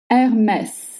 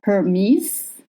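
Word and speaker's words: Hermès: Hermess not Hermis.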